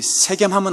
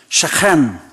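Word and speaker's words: שכם: 성경에 보면 세겜까지 가는데, 원래 이렇게 발음이 세겜하면 안 되고요. 원래 히브리어는 이렇게 이 가래 긁는 소리를 이렇게 잘 해야 되거든요. 한번 이렇게 연습 한번 해보겠습니다. 셰켐.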